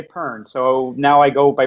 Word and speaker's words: Pearn: You know, I just realized, I didn't ask you, like, is Pearn the correct way to say your name? Pearn works. Pearn, Pearn. Pearn, like, it's like the fruit, you know, pear.